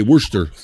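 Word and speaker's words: Worcester: I think it's it's spelled Worchester, but they say Worster Worster Mass.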